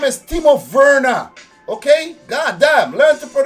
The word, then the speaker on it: Werner: will see do not sawarna do not save werner his name is Steve of Verna okay god damn last for them so damn